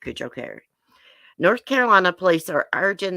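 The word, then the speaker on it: Cojocari: So this little girl, Madalena Kujokari, I did look up that last name this morning. That's how you say it, Kujokari.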